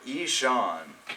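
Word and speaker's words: Ihsahn: it but it's it's it's spelled i i a i h s a n but it says here Ean oh yeah OB yeah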